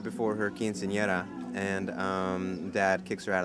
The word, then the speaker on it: Quinceañera: All right, we're here with Jesse Garcia from the film Quinceañera.